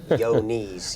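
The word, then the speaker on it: Johne's: we we talk about yoni's but everybody wants to know uh you know how it's spelling it's spelled John with an e on the end of it and somebody say yo knees you know kind of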